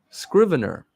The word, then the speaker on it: Scrivener: Scrivener.